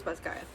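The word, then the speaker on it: Basgiath: Okay, so I was right. It was Basgath um Basgath College.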